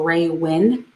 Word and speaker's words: Raewyn: to discuss raeanne um raywin cannell connell sorry raewyn her name is spelled really or his name whatever it's about really funny it's like r-a-e-w-y-n so ray wen connell we're gonna have to